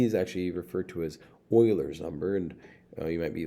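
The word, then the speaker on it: Euler: might be like well Oiler that seems like it starts with an an O and Oiler is a mathematician and his name actually starts with an E, believe it or not.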